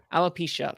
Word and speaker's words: alopecia: pinkett smith has um i'm gonna mispronounce this uh uh horribly but it's uh uh i love elopia alopecia thank you um and um i